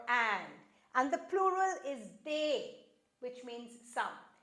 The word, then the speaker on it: des: and the plural is they which means some be careful we don't pronounce the S it's they of course